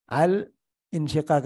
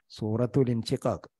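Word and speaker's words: الانشقاق: അൽ ഇൻഷിഖാഖ് എന്ന് പറയാൻ പറ്റില്ല. കാരണം എന്താ? ഇൻഷിഖാഖിന്റെ അലിഫ് ഹംസത്തുൽ വസലാണ്, എടുത്ത് വായിക്കുമ്പോൾ ഉച്ചാരണമില്ലാത്ത. അപ്പോ അൽ ഇൻഷിഖാഖ്, സൂറത്തുൽ ഇൻഷിഖാഖ്.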